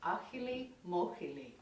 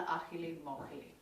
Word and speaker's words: Ajilimójili: you see the word, there's lots of J's and I's in there, but it's Spanish, so I'm going with Ajilimójili.